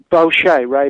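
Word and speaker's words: Boeche: pronounce this gentleman's name b o e c h e bokei is is that close oh B Ray B Ray B yes b b tell us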